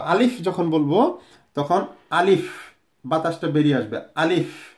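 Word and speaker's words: تاء: তারপরে আছে তা, তা। তা বলার সময় জিহ্বার আগা এই দাঁতের এই উপরে যে দাঁত আছে এটি নিচে যাবে, নিচে। তা এরকম দেখে নিন, তা, তা এরকম।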